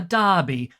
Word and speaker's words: Derby: or a name, because the name is pronounced the same way, even if it's spelt with an E. But here in Australia, we were just like, "Oh, look, D-E-R-B-Y, Derby."